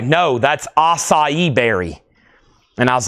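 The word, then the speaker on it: açaí: just like that and everybody's like no that's acai berry and I was like what it's spelled just like that too. I said, "It's pronounced how?" They said, "It's acai."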